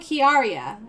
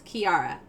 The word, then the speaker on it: Keyaria: is very musical right like key like a musical key and Arya like an Arya right so like people would always be like oh kiaria and I'm like no it's Kiara like oh well it's